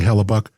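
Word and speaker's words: Hellebuyck: It's spelled weird, but I think they're saying Hallellabuck.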